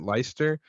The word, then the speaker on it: Leicester: Leicester Square Theater l-e-i-c-e-s-t-e-r I think you pronounce it leister I think that I